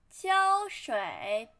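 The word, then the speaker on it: 胶水: 器 and then glue 胶水胶水胶水胶水胶 flat tone 水 third tone 胶水 and then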